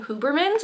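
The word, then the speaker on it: Hubermann: And so all we know is that she's put into foster care and she's given to a family called the Huberman's. I believe that's how you pronounce their name.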